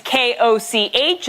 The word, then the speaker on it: Koch: My last name is K-O-C-H. It's meant to be pronounced Koch, but if you're living in an English-speaking country, 8 out of 10 times I am Olga Koch.